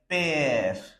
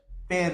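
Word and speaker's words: père: and we pronounce it last e will not be pronounced and this e will be pronounced for longer period so it will be like pair pair means father in another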